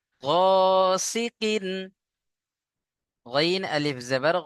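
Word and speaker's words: غاسقٍ: ওয়া ওয়ামি সাররি গাসিকিন ও is sequin, গাসাকিন সাকিন নয়, sequin.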